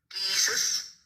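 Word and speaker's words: Giizis: Let me show you how it's pronounced. Right. Let me pull it up for you. Jesus.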